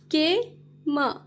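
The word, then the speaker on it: came: अ moss Quito mosquito के म केम एंड में जो ई रहता है उसे हम नहीं पढ़ते हैं के म केम अ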